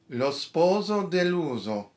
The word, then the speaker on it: Lo sposo deluso: Lo sposo deluso, the deluded bridegroom, lo sposo deluso.